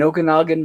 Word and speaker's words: Okanagan: actually says in okay if I pronounce this right in okanakan in Okanagan Lake they have the equivalent it's called the oga Pogo noise that is correct yes okay no it's